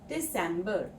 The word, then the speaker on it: Dezember: And Dezember has a S sound in the middle. Dezember Now, let's have a look at some useful phrases.